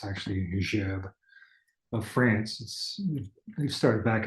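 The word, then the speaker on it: Gerbe: people pronounce it Gerby, but it's actually Gerb of France.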